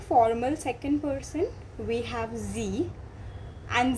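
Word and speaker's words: sie: It is S and she is Z.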